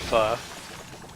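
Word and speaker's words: phở: than to know that that pho is pronounced fuh cool that sounds good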